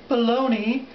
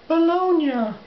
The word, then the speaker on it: bologna: would like people to realize that the proper pronunciation is not baloney but bolognia so we will be talking about Essence the